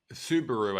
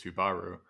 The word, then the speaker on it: Subaru: So Subaru, I guess, is probably my Australian pronunciation. I think the Japanese pronunciation is Subaru.